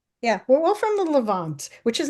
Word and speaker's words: Levant: How do you pronounce it, Emily? Leavant. Yes. Yeah. We're all from the Levant, which is not a very big area, and it's what you would call Israel today.